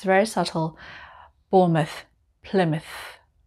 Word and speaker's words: Plymouth: word mouth mouth m-o-u-t-h now you might call it mouth normally we would say mouth but if it's a place name we just say must like number 11 bournemouth bournemouth and number 12 plymouth plymouth it's very subtle